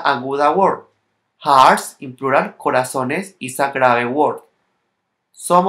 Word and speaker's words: corazones: For example, the word corazón has an accent when it is a singular because intensity of the voice is in the last syllable and end in N. And when it becomes plural, the intensity of the voice goes to the penultimate syllable, and since it ends in is, it no longer carries accent mark.